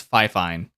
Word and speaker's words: FIFINE: wireless headset um I I still can't remember how to pronounce it properly I think it's fifine it's just it's Fi Fi n e uh for the microphone